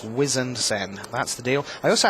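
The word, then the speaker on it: Wizened Cenn: I'm pulling rank. It's Harbinger, and it's Wizened Sen.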